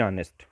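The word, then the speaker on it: honest: कहाँ जा रहा, ऑनेस्ट, ऑनेस्ट आ, इसका प्रोनाउंसिएशन आ से हो रहा है, ठीक, तो आप सोचोगे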